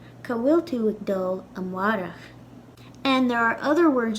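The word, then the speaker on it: amárach: So yesterday in Irish is inné, today is inu, and tomorrow is amwarach. In Connacht and Munster, I believe they would pronounce tomorrow more like amórach. But in Ulster, it'll sound more like amwarach.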